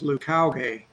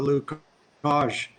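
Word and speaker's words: Leucauge: So it's sort of completely different from the Lucage, which is sort of how you would pronounce it, maybe if it was a French word, but he says Lucauge.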